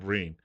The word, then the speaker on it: Breen: He mispronounced his name as Green instead of Breen.